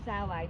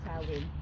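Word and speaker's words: Samhain: There's different ways. or sail in or sail in. Yeah. But yeah, it's an Irish word, so they don't have, like, it's the MH makes a W or V sound.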